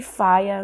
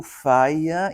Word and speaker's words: Fyah: é uma delas e o Faia então com essa pronúncia é F ah né o Faia tem uma pronúncia inglês de de influência da língua inglesa né do Caribe deve ser